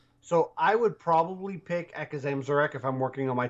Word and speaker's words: Akazamzarak: So, all right, we have Silas Darkmoon, Syndragosa, Edwin Van Cleef, or the Great Akazamarak. Akazamzarak. Oh my god. Whatever. You butchered that.